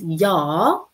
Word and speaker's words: 야: And when you pronounce 야, you make a circle and you make a short horizontal line.